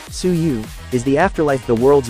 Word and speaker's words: Suyu: suyu is still here suyu pronounced suu is the afterlife the